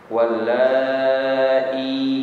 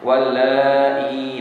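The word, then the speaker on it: وَاللَّائِي: Wallai, panjang ya. Tadi Haji Yusuf bacanya agak pendek ya. Panjang. Wallai dengan hamzah dan ya.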